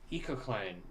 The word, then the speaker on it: ecocline: Nor do I really know if that's the pronunciation. I do know that that's the pronunciation because I know what it means.